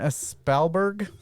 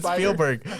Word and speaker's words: Spielberg: suck at reading names directed by stevonn spellberg i'm just kidding it's steven spielberg i'm just going with